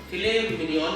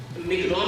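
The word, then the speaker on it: filet mignon: बोले ना एक बार, फिले मिनियन की स्पेलिंग होती है MIGNON, लेकिन उसको मिग्नॉन नहीं कहते, फिले मिनियन, फिले मिनियन।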